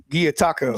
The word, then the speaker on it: Gyotaku: explain to people what Gyotaku, did I say it right? Gyotaku. Damn it. I knew I was going to, yeah. It's like taco. Gyotaku.